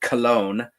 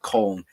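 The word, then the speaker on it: Köln: English people pronounce it cologne uh but it's col with a k k o l n colle in Germany and that is the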